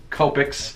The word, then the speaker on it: Copic: your add just like I'm always confused whether it's kopecks or topics everyone keeps telling me it's kopecks so that's what I've